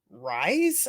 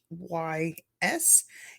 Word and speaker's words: Rhys: And Matthew Rise, I believe that's how you pronounce his name, Rhys.